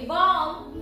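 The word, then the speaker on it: bomb: बी ओ एम बी बॉम्ब बीओ एम बी बॉम कळालं कोण silent आहे बी सायलेंट आहे silent be after M एम च्या नंतर आलेला बी हा नेहमी सायलेंट राहतो जसं एन च्या आधी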